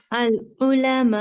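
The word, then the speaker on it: العلماء: Al-ulama. Exactly. So there will be no u sound. Okay, no dhamma sound while stopping. It is al-ulama with slight jerk on hamza.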